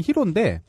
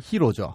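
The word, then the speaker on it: ヒロ: 거기도 히로죠. 예, 거기도 히로. 일본에서 히어로를 히로라고 발음해요.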